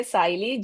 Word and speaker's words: Siley: Uh, you can say Siley, just like smiley.